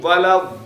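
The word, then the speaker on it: الضالين: গাইরিল মাগদুবি আলাইহিম আলাইহিম ওয়ালাদাল্লিন যেমন জল্লিন পড়ি না আবার কি পড়বে না জল্লিন জল্লিন পড়লে নামাজ হবে না কিন্তু কেউ যদি দোয়া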